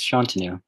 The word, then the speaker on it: Shantanu: Shantanu, rhymes with canoe.